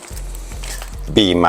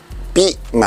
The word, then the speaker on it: Bmai: จะ รู้ เลย ว่า มัน คือ บี ใหม่ บิ ใหม่ นะ บาง คน อ่าน ว่า ถ้า เป็น ภาษา จีน เ อ่าน กัน จริง ๆ ปิ ปิ ใหม่ นะ ครับ US 10.5